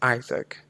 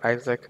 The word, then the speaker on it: IASC: welcome to Isaac um you must have heard me call this Isaac yes I call it Isaac that's the pronunciation so so you can